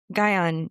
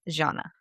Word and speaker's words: Jnana: Today I'm going to be talking about Gyana yoga. I was previously pronouncing it wrong as jhana.